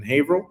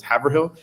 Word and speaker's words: Haverhill: And so we moved about 45 minutes to an hour north of Cambridge in Haverhill, a city that some of my family members would mispronounce as Haverhill at the time.